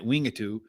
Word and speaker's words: Wingatui: have in new zealand at wingatu since that's how the official pronunciation is here but we got five races